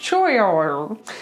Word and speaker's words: choir: Now this word looks bizarre. It's a really weird looking word. It looks like choir. But all you need to remember is it's choir. Choir. There's a y in there, even though there's no y written.